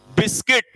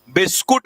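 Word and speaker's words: biscuit: बिस्कुट नहीं होता वो, नालायको, बिस्किट होता है, बिस्किट। बिस्कुट, कुट क्या होता है, किट, बिस्किट।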